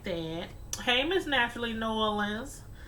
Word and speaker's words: New Orleans: me okay I'll pronounce it like that I'll pronounce it like that but yeah I know a lot of southern people they say nollans but yeah I'm up here I'm just putting